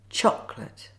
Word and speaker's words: chocolate: Good, so now it's time for the Silent O. Watch and listen first to how it's pronounced. Favourite. Chocolate Catholic. Comfortable. Now see how the words are spelt Favourite Chocolate Catholic. Comfortable, not favor it.